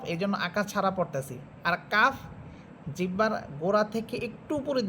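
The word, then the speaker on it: قاف: ফা এরপরে হরফ কফ কফ হচ্ছে জিহ্বার গোড়া উপরে তালুর সাথে লাগবে কফ যত ভিতর থেকে যত একবারে গোড়া থেকে বলতে পারেন কফ কফ দেখেন আমার সাউন্ডটা কেমন যেন আপনার ধাক্কা দিয়ে বের হইতেছে কফ কফ এবং কফ এটা মোটা হরফ।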